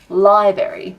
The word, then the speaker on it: library: New South Jersey and they say library instead of Library oh wow that's another one I just remove the second hour all together it's Library uh Wuda instead of water